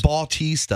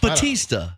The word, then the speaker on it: Bautista: does he live here it's not Bautista how do you say his name Batista Batista yes Dave Batista who uh